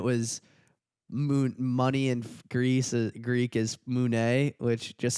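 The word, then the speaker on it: μουνί: money in Greek is moune, which just sounds like, or pussy in Greek is moune. That's how you pronounce it, which just sounds like money with a French accent.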